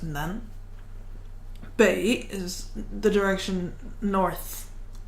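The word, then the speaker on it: 南: Usually it just means south, the direction, and it's pronounced Nan. Bei is the direction north. And just don't worry about the other meanings, they're not important. Nan Bei.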